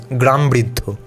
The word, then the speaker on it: Gramavriddha: Gramavriddha. Any Indian who knows any Indian language should know this. In Bengali, we would just pronounce it as Gramvriddho.